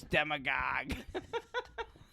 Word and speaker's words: demagogue: I love the dictionary what how do you spell it so it's spell d e m a g o g u e demagogue oh yeah I guess it's not like